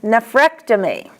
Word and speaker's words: nephrectomy: An ectomy, the accent is on ek, as in nephrectomy.